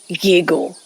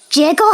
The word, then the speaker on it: Yiggle: Jiggle has a pot. I believe that's a cauldron. And I thought his name was Yiggle. In fact, he seemed rather displeased that you mispronounced his name.